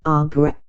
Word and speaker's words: arbre: in the same way he was taught to pronounce ape, singe and tree, arbre.